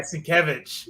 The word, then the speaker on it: Sienkiewicz: Sienkiewicz? Yeah, Sienkiewicz.